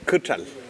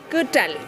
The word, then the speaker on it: Quitral: Vamos a hablar de Rayen Cutral. Cutral. Ahí tenía la duda. ¿Cómo Quitral. Quitral se escribe, pero me imaginaba que no se decía tan...